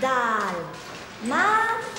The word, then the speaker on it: dálmata: Dalmata. El acento en la primera A, porque es esdrújula.